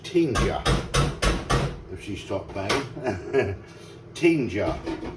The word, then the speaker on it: Tinga: This is the Mexican, it's actually pronounced tinja, if she stopped banging.